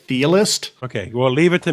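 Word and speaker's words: Chthe'ilist: I think it's Thealist, like Cthulhu. It's like CTH, like Cthulhu. So the C is sort of silent, so it'd be like Thealist.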